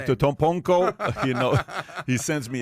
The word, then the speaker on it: Antetokounmpo: Antetokounmpo, you know, he sends me.